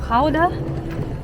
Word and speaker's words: Gouda: So nakarating na kami dito sa Kauda.